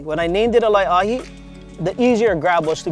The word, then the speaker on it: Laeʻahi: So when I named things for OluKai, when I named this shoe called the lye-ah-hee, when I named it a lye-ah-hee, the easier grab was to be lye-ah-hee.